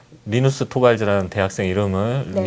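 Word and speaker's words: Linus Torvalds: 일단 틀린 매 용이 조금 있었죠 해외에서 뭐 리누스 토발즈 라는 대학생 이름은 이녹스 토발즈 라고 제가 발음할 수 없고 또 보통 그 ubuntu 닷컴은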